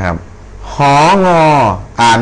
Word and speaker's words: หงอ: หอ วอ นะ ครับ หง อ่าน ว่า หงอ เสียง จะ เป็น rising โทน หงอ ห น หนอ ห